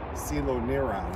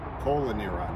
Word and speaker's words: coeloneuron: And we will work our way to the south and east and end up with Celoneron, or what some of you might call coeloneuron. It's spelled C-O-E-L, but I think Celoneron is much more confusing, so that's more fun.